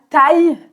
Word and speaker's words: taille: Ok, à taille humaine, donc la taille, tu entends la prononciation ici, c'est vraiment y.